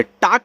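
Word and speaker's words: talk: टाक पढ़ोगे।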